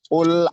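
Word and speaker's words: قُلْ: Qul a'udzu birabbin nas. Qul a'udzu birabbin nas. Ingat, qulnya ko ya. Ko, ingat ko itu tempat ko, makhraj huruf qaf itu ko. Jadi ku. Qul a'udzu birabbin nas.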